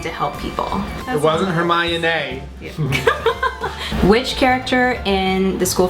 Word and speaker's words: Hermione: Pronounced Hermione.